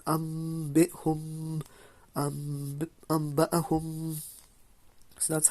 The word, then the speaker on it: أنبئهم: So as you can see, guys, it's pronounced أنبئهم أنبأهم.